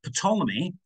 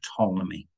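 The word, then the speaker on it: Ptolemy: the um geocentric model of pomy it's a silent p in there but I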